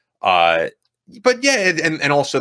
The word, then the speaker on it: Ute: an image of it uh this particular mascot was respectfully approved 30-plus years ago with the u tribe hopefully pronouncing that right or ute tribe you it's you you tribe yeah you you you